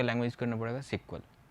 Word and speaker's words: SQL: इसे प्रोनाउंसिएशन किया जाता है सिक्वल. जनरली लोग इसे एसक्यूएल पढ़ते हैं.